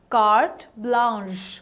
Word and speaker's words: carte blanche: it this way okay how about carte blanche carte blanche which is the correct pronunciation again word of a french origin and